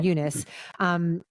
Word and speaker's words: Eunice: And then you say Fernanda Torres is Eunice is how they pronounce her name, Eunice.